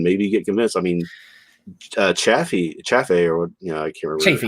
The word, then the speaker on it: Chafee: I mean, Chaffee, or I can't remember how to pronounce it. Chafee.